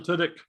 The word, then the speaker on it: Tudyk: Tunick. Alan Tudyk.